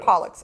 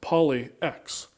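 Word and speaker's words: Polyx: And I said, excuse me, it is not. It is pronounced Pollux because it was corrected on that many times.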